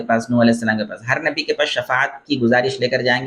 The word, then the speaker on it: شفاعت: اللہ سے شفاعت کرے۔ اس کو بھی لوگ شفاعت کہتے ہیں، شین کے زیر کے ساتھ، حالانکہ یہ غلط تلفظ ہے، شین کے زیر کے ساتھ نہیں ہے بلکہ شین کے زبر کے ساتھ شفاعت بولنا چاہیے۔ تو ہر نبی کے